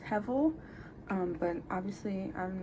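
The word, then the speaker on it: הבל: If you don't know what vanity is, it pretty much, in the Hebrew text, it's pronounced hevel, but obviously I'm not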